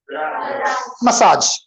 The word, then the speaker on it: massage: So these 2 words I know wherein you need to stress on second syllable, you need to lengthen it. Say garage, massage.